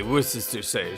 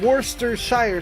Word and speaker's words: Worcestershire: I've always said Worcestershire sauce. I'm missing an entire syllable in that my whole life. Yeah, like I said, there's like 5 different ways to pronounce that word.